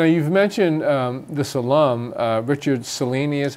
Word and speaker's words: Cellini: So now you've mentioned this alum, Richard Cellini is how That's you pronounce right.